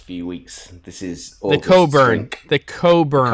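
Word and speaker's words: Cockburn's: weeks this is the coburn the coburn coburns special reserve port you you just used it very nicely this time of day it's said differently than it then it's spelled but that's okay and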